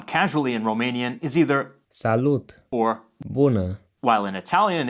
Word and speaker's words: salut: in Romanian is either salute or while in Italian it's ciao salute was borrowed from French but the t is pronounced we'll see a number